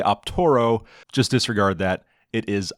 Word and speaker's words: Optaro: on their website on how to install the optoro device into the case and there it is